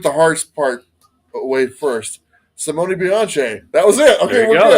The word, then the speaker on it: Simone Bianchi: And he said, Simone Bianchi.